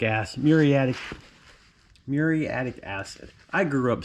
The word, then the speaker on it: muriatic: of the muratic ass muriatic muriatic acid i grew up saying that muratic but that's just because i grew up with a bunch of rednecks you probably didn't know how to pronounce it properly but and now i'm